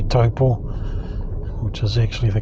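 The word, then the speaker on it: Taupō: won't know what you're saying if you say taupo which is actually the correct pronunciation but um more commonly known as taupo the big waterfall you saw back there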